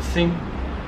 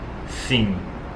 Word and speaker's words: sim: to pronounce but it's you don't say the m fully it's more like sing uh but a lot